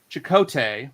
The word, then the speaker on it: Chakotay: Chakotay.